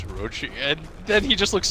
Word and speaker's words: Orochi: And she's like, and then Purge just like sighs, like very exasperated, and he's like, "It's Orochi," and then he just looks super disgusted.